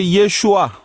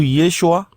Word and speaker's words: Yeshua: Maintenant, si on parle de transitération, Yoshua ou Yeshua qui comporte trois syllabes ne peut pas donner Yesou qui comporte deux syllabes.